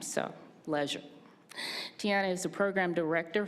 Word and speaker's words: Leisure: Our next person who we honor is Tiana Leisure, and I just learned how to pronounce her name, so Leisure.